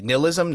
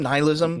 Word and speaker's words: nihilism: that oh yeah I'm I pronounced the word wrong you guys seem to both pronounce it correctly nilism nihilism nihilism there's too much nihilism